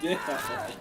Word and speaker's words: Ditto: You know it's pronounced Ditto. You know it's pronounced Well, Ditto. that's how it's done.